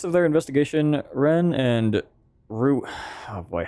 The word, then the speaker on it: Rui: Rui, pronounced Rui like the flower.